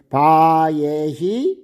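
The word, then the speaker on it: וַיְהִי: 13절에 첫 번째 바예.이 바예라고 읽어도 되고요. 바 이히라도 읽어도 돼요. 원래 장모음 뒤에이 뭐야? 쉐바는 무음으로 되기도 하거든요. 그러니까 무금해도 되고 뭐 유성해도 되고 예 상관없습니다.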